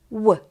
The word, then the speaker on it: Ł: And the last but not least is the letter Ł that is pronounced as Ł, like English W.